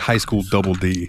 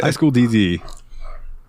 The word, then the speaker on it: High School DxD: skuru DD so yeah apparently you do not say the X on this one so Hunter x Hunter Squad represent we're in the same boat again High School DD uh hilarious show um